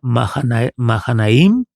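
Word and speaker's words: מַחֲנַיִם: que en un texto en hebreo entendemos que se pronuncia Mahanaim, y Mahanaim significa unión de dos campamentos.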